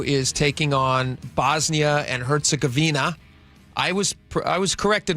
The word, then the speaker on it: Herzegovina: And it's just there's no I A at the end of the It's just Herzegovina.